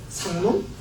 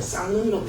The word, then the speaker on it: 쌍놈: 상놈. 아니에요. 쌍놈이라고 했어요.